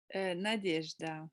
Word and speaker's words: Nadejda: Dis-moi, ton nom, il se prononce comme ça ou il devrait se prononcer autrement? Nadejda.